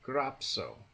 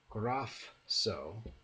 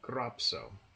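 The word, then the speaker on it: γράψω: sigma to it, but phi plus sigma becomes psi, and so we get grapso, not grafso, but grapso. The letters kappa, gamma, and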